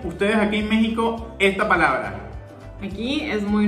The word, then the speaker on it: México: sabemos que decimos méxico méxico se escribe con equis y se pronuncia como j entonces ya de méxico si es normal para